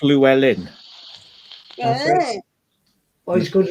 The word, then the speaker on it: Llewellyn: It's pronounced Llewellyn.